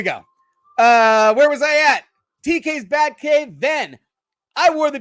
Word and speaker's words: TK's: We're talking TK's Batcave. That's how you say it. It's not TKS. It's TK's Batcave.